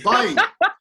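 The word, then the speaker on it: बाईस: No, it's not dodo, you coconut. It's bai.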